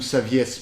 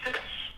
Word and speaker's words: Saviès: Je sais pas si ça se prononce Savy ou Saviès parce que je crois que ça vient du latin et donc normalement le E doit se prononcer.